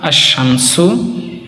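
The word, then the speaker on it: الشمس: যে আশশামসু আশশামসুর মধ্যে যেরকম লাম আছে কিন্তু লামকে আমরা উচ্চারণ করবো না।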